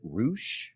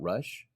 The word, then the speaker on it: Rush: 18, I believe he pronounces it Roosh, not Rush.